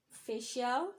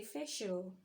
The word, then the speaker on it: official: we have so many we shouldn't say fish out we should say official we shouldn't say hostel